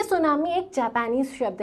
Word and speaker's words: tsunami: एक तो आपको दिख रहा है सू, इसको प्रोनाउंस किया जाता है सू, और इसके अलावा एक और दिख रहा है नामी, तो सू और नामी।